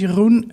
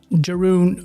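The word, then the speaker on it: Jeroen: don't know me uh my name is Yun um which is a Dutch name which you probably cannot pronounce if you're not Dutch uh we just got to live with that uh Jeron or Jone is what people in English tend to call me and I am actually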